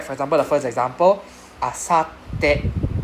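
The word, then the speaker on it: あさって: Two T, we separate the two T. The first T go with the first part. Pronounce together the first part. So you can see there's a SAT, right? Not Saturday, Sat. Sat. So asate. Yeah. So there's a pause in your breath in between the two T's.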